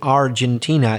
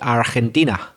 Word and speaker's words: Argentina: a couple of times instead of saying Argentina you said Argentina understandable since it's your own country but remember in English it's pronounced Argentina did you notice anything